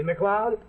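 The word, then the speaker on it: MacLeod: See, McLeod? Sounds like Cloud, but it's spelled M-A-C-L-E-O-D.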